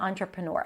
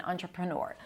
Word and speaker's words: entrepreneur: at the beginning, but this word is derived from French and it kept the spelling.